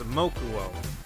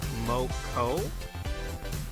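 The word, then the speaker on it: Mokou: I don't know anything about her, but Moko is how I think you're supposed to pronounce her name. That's like snot in Spanish. So I think I'm not the only one out there that prefers to say her name as Mokuo, even though it's Moko, I think.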